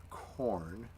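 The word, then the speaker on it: Khorne: printing but I don't have one also it's pronounced corn blood for the blood God skulls and the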